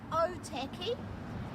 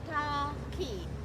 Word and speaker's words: Ōtaki: So Ōtaki is often pronounced Otaki. You will notice the macron over the O, or A, E, or U. A, E, or U, and a break after every vowel. So Ōtaki, Ōtaki.